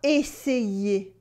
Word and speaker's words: essayer: it is il va essayer. Il va essayer.